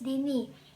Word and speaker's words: Dini: My name is Dini.